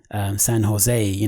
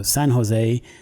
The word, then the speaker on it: San Jose: like Las Vegas and San Jose, because in Spain you don't pronounce the J's, it's Jose as opposed to Jose or Jose. So San Jose, Las Vegas, California, San Francisco, Nevada, those are Spanish names.